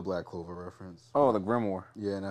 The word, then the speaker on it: grimoire: Gamora? What are you talking about? It was a Black Clover reference. Oh, the Grimoire.